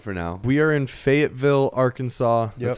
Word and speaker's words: Fayetteville: We are in Fayetteville, Arkansas.